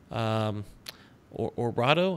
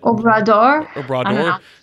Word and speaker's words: Obrador: But top candidate, I'm gonna get this name wrong, but I'm gonna try. Andres Manuel Lopez Obrado. I don't know how you say his last name. You got it? Obrador.